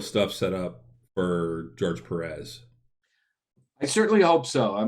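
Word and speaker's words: Pérez: perez actually if you i used to call him george perez until i actually heard him say his name his own name and he said perez and i went okay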